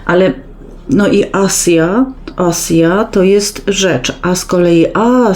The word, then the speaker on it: asia: s i a i nie czyta się Asia tak jak Imię polskie Asia tylko asja i i ono oznacza rzecz i nigdy w języku fińskim się nie nie czyta tego si i jako si ale no i asja